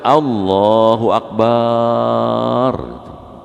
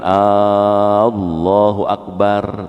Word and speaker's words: Allahu Akbar: hati-hati baca takbir gitu kalau salah bacanya maknanya berubah contoh kalau kita baca Allahu Akbar Kenapa Mbaknya dipanjangin kalau bapak bacanya Allahu Akbar gitu Allah gendang jadi berubah maknanya sebaliknya dipanjangin Allahu akbar tuh nanya apakah Allah maha besar di Solo salat malah